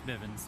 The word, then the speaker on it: Bivens: It's kind of like Miss Bevins in there. Yeah. Bivens. Yeah. Bivens. I always say the name wrong. I'm not very good at English. It's Bivens.